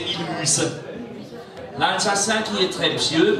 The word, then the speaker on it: Mulhouse: Colmar au centre, prononcé Colmar, et puis Mulhouse au sud, prononcé Mulhouse.